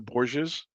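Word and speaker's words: Borgias: I'm re-watching on Paramount Plus the Boures. It's It's about spell that, Paul.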